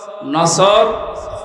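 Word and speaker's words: نصر: নাসর মানে ইগল পাখি এজন্য তেলাওয়াত যখন করবেন উচ্চারণটা মুখ গোল করা লাগে আল্লাহ পাক জানিয়েছেন যখন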